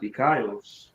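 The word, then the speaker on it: δίκαιος: That word righteous in the Greek is dikaios. It be pronounced dikaios.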